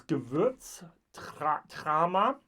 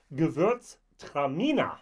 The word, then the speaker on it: Gewürztraminer: Now I think, so it's Gewürztraminer is the way we call this type of wine over here in Europe, or German. Yeah, my German pronunciation was not great. Gewürztraminer is the way we say that, actually in German as well. I'm sorry, in English as well.